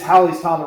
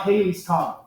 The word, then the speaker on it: Halley's Comet: And it is Halley's Comet. It rhymes with valley. It's not Halley's Comet.